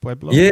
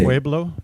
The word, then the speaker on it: Pueblo: Pueblo. Pueblo.